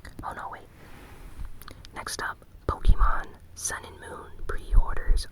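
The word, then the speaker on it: Pokémon: Moon, and it might be like the best-selling Pokemon games to date. And I say Pokemon even though I know the correct pronunciation is Pokemon.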